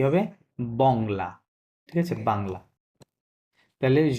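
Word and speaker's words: Bangla: এস ও sorry বাংলা এটুকুই হবে কি হবে বাংলা ঠিক আছে বাংলা তহলে য পাগল বংলা বলবেন বাংলা এটা উচ্চারণ হবে কারণয লাস্টে কি থাকলে ভাউলের চারটা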